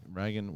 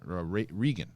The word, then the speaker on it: Regan: one more get into Ragan my name is pronounced like Linda Blair's character in The Exorcist love you anyway Christian okay Regan whether Regan Regan Regan Regan Regan